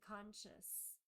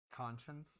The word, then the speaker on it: conscience: and it's because of their guilty conscious um conscience conscience yeah I said it wrong yeah who corrects me